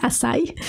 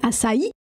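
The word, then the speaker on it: açaí: amazonienne qui s'appelle assï que les gens prononcent mal ici qui disent assï mais c'est assï l'assï c'est la base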